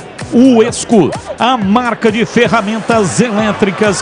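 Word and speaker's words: WESCO: A pronúncia é Uesco, mas escreve-se W-E-S-C-O. Uesco, a marca de ferramentas elétricas que mais cresce no Brasil.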